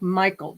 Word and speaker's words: Mikal: name oh I'm sorry her name is pronounced like Michael just like the traditionally male name and I'm her dude